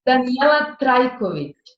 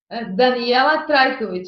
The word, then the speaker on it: Danijela Trajkovic: My name is Danijela Trajkovic. Trajkovic. Okay, it's difficult for you to pronounce. Danijela Trajkovic.